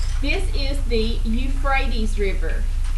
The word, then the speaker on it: Euphrates: This is the Euphrates River. E-U-P-H-R-A-T-E-S. I'll spell it again.